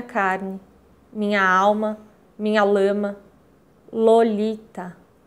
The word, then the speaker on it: Lolita: Lolita, a ponta da língua descendo em três saltos pelo céu da boca para tropeçar de leve no terceiro contra os dentes.